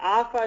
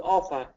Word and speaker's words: offer: Offer, And you said, use A, W sound, not offer, use offer. Yes.